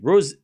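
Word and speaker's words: Ružić: The Z is like C in V. So, it's so it's r It's a soft C. Ros. Ross sounds ros. So it was the I that I was fucking up. So it's it's like rosette. It's not itch, it's so it's messing up the last bit.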